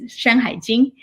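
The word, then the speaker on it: 山海经: In Chinese, it's pronounced as Shanhai Jing.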